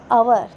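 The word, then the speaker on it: hour: तो ये क्या है, अवर. तो ये ओ से स्टार्ट हो रहा है, एच के बाद वाला, तो एच क्या हमारा साइलेंट है, तो इसकी वजह से क्या आ जाता है, तो एन यूज़ होता है.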